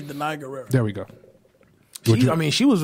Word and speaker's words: Danai Gurira: You said, pronounce her name. I'm going to say Danai Gurira.